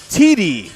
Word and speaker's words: Thede: Teedee. T-E-E-D-E-E is how you say it. All right. All right. I keep wanting to put the H in there.